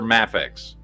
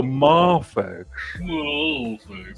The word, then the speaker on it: Mafex: it is MX okay it's the two acceptable ways to say it or MX or mafex MX mafex fine but when you go maex it's like some great